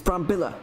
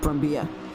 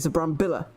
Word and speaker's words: Brambilla: He is Italian, not Spanish. Of course, I was kind of taking the Spanish pronunciation of that, the two L's meaning a kind of a Y sound to make Brambilla, but it's not really. It's a Brambilla.